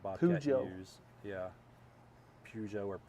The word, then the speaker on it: Peugeot: Peugeot or Pugot. Pugot. But Peugeot, like Peugeot, I think is how the French actually pronounce that.